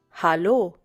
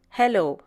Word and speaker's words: Hallo: Hallo. Once again, hallo. This is the most commonly used form of greeting in Germany. Notice the difference in pronunciation. It's hallo and not hello.